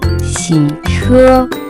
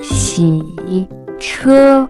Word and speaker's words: 洗车: Next vocabulary that we have is to wash a car, which in Chinese can be pronounced as 洗车, 洗车, 洗车.